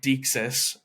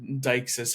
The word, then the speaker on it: deixis: I did two videos on Deixis or Deixis, however you want to pronounce it.